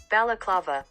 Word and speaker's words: balaclava: exactly what it is here's the correct pronunciation bella clava but this piece can